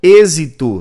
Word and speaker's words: êxito: gabarito correto Olha só êxito tem som de z mas se escreve com jeans com x aliás enxaqueca depois ó